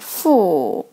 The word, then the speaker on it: 妇: So this character pronounced like 妇.